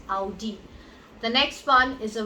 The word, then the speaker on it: Audi: It's not Audi, it's Audi. It's Audi.